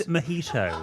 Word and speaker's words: Mojito: They do Mojito Monday. Come and join us. Mojito.